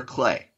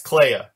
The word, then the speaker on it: Clea: Was it pronounced Clea or Clay? Oh, I've always pronounced it Clea.